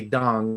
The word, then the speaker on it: Tung: is the pronunciation because i used to pronounce it tong because that's how i saw it and then i say dong and now i'm here you say dong dong dong you know